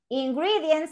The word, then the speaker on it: ingredients: Ingredients have one, two, three syllables. Ingredients. ¿Cuál se va a acentuar? The second syllable.